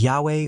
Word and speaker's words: Yahweh: or yahu Jeremiah additionally scholars believe that the closest form to the original pronunciation is Yahweh or Y an attempt